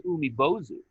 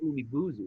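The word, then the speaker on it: Umibōzu: So the one I wanted to talk about that relates to Thalassophobia is called the Umibozu, or I should say the Umibuzu. That's how you pronounce it.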